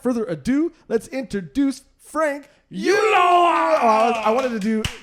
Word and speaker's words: Ulloa: Ulloa. Ulloa. I knew Yeah, that. the two L's make like a Y sound. I like to break it down for people into like three little like ooh yo.